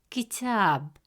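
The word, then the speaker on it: كتاب: book, the letter ta has a fatha vowel, which gives it a short a sound, pronounced as ta. Since the long vowel alif comes immediately after ta, it stretches the short a sound into a long a sound. Instead of pronouncing it as ta, the presence of alif makes it ta. As a result, the correct pronunciation of the word is kitab, kitab.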